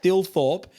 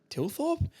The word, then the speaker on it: Thilthorpe: That's awful because it's Thilthorpe, but I think it's pronounced Tilthorpe. Let me know if I'm wrong with that.